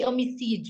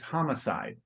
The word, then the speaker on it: homicide: recording ah but we how can we say omiside you in English it's very it's very much the same it's homicide okay but we don't we don't say that's